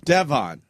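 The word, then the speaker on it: D-Von: Name He Can Be dev on Bubba duddley ya Ya Come On Devan Dudd That'S Davone Now not diva I mean, they still kind of pronounce it Devon.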